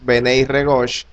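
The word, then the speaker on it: בני רגש: Juan, los llamó con una palabra hebrea que se pronuncia o es Benei Regosh, que significa hijos del trueno.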